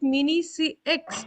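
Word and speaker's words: Mini-CEX: Pronounce it mini CX or mini cakes.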